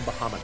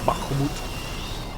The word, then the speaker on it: Bahamut: GF gfos GF bam I like pronouncing Bahamut that way Bahamut sounds cool like putting that that hor sound in there bahut I one of the